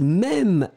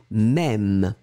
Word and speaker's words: même: And the last thing is même, elle-même, M-E. If you've got this circumflex on your keyboard, please put it, M-E. M-E, accent circonflexe, M-E, elle-même. Remember, this circumflex really opens the sound, E-E-E, même.